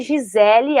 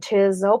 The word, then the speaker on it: Gisele: Eu falo teacher Giselle para brincar com os meus alunos, para eles entenderem que tem uma outra pronúncia, mas eu, quando chego no aeroporto para falar, falo meu nome Gisele. Se ele fala Giselle, eu não importo. Mas eu me apresento como Gisele.